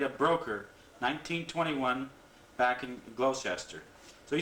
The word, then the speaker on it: Gloucester: Gloucester. Gloucester. Gloucester. Yeah. Okay, Gloucester. Dory hand lining. Yeah. Was married in 1919. The following year, went to Lunenburg, made a broker, 1921, back in Gloucester.